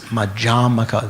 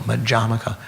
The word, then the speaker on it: Madhyamaka: But if you refer to the system, it's Madhyamaka, the emphasis on the second syllable, Madhyamaka, Madhyamika.